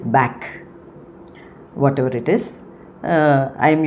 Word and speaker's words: Bach: he told me that it is not bash uh it is back whatever it is uh